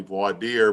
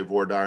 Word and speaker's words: voir dire: to be jury selection we call it in texas vor dire the proper way to say it is probably void dear but in texas we say war dire and that means to